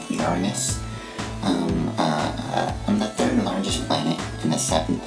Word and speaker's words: Uranus: as you go some people pronounce my name Europeans but it's actually pronounced Uranus largest planet in the